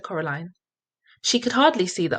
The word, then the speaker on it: Coraline: name wrong you know they kept saying coraline not caroline not caroline at all he picked up